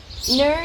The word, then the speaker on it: Knurr: Nur is spelled Knurr.